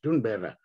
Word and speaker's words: Thunberg: I'm not sure whether the Swedish pronunciation is right, but as I remember Dot Malan telling me that it should be pronounced Thunberg.